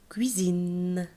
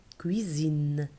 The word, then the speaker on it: cuisine: Cuisine. S, on a prononcé S. Est-ce que non, c'est Z. Parce qu'il est entre eux.